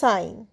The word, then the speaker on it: sign: রিজাইন কিন্তু এখানে শুধু সাইন সাইনে আবার সাইন হচ্ছে না সাইন হচ্ছে এস আইজি এন এখানে এখানেও দেখো জি এন পাশাপাশি তো জি এর উচ্চারণ হবে না তো শুধু সাইন সাইন